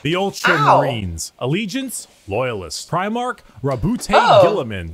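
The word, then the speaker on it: Roboute Guilliman: Rabute Gilliman. That's how it's said.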